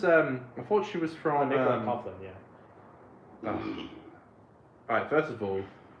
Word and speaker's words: Nicola Coughlan: Ruby's on the Christmas special as it's set in World War II with Nicola Collan from Bridgeton. I thought it was. I thought she was from. Nicola Coughlan, yeah.